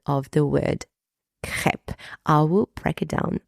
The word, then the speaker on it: crêpe: I guess but yes in the French version the E is pronounced e and not a crep and not crepe